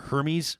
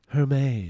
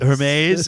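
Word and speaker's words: Hermès: I see somebody's CH Alyssa's chirping me for my for my pronunciation of of what was this store Hermes h e r m i don't know do you know it's like a luxury story believe it's pronounced Hermes Hermes is it well hey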